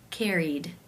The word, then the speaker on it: carried: The final sound in the infinitive is the E as in she vowel sound. Since it is a vowel, it must be case 2, where the ED is pronounced as the D sound.